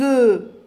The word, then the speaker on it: œufs: Un œuf بيضة بتصير des œufs. Des œufs, j'ajoute S, mais je ne prononce pas le F au pluriel.